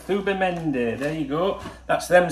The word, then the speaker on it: Zubimendi: they said to me you pronounce it thuba mende right thuba mende there you go that's